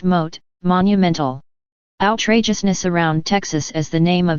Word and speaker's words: M.O.A.T.: Texas contains 254 counties MOA dot T pronounced mote monumental outrageousness around Texas